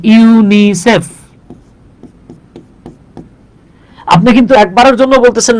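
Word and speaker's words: UNICEF: যে আপনি কিন্তু এটাকে ইউনিসেফ বলতেছেন ইউ এন আই সি এফ বলতেছেন না তার মানে তার মানে যেগুলো অ্যাক্রোনিম সেগুলো উচ্চারণ হবে শব্দের মত আর যেগুলো এব্রিভিয়েশন সেগুলো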